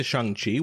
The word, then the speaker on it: Shang-Chi: leafs documentary in the toronto so back to shanghi which i'm pronouncing properly i did i didn't know the